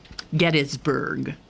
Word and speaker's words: Gettysburg: anniversary of Gettysburg yeah get isburg yeah it's a proper pronunciation um and I'm reading